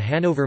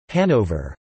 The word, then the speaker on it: Hanover: The English pronunciation, with stress on the first syllable, is applied to both the German and English spellings, which is different from